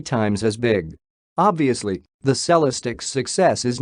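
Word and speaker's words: Celestiq: buried by the time the cellistic pronounced salah's tick not celestig shows up in 2024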